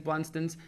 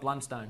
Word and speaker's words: Blundstone: He's always raving on about his Blunstones. And I always get in trouble for saying it wrong. Yep. So it's Blunston. That is how you say it. So it's not Blundstone. No, it's Blunston.